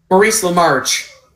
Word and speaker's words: Maurice LaMarche: Cramdillies, and he's also voiced by Maurice Lamarche? Maurice Lamarche. Oh, okay, the E is silent.